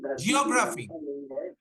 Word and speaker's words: geography: democracy Dem democracy democracy geography geography geography geography in India we say geography sir I got good marks in geography exam it's not geography geography geography geography geography